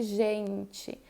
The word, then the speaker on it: gente: a sílaba mais forte, eu não digo gente, eu digo gente. Então, o gen é a mais forte. Essa sílaba é a átona, eu vou pronunciá-la como gente, como um i.